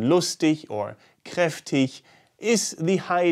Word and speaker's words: lustig: the wrong one while the soft version with the sound at the end like in lustig or kreftik is the